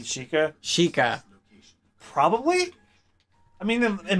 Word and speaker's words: Sheikah: So is Impa a Shakia in this one, or You mean Sheikah? Sheikah? Probably. I mean, in most of the Zelda iterations, like the Sheikah are extinct.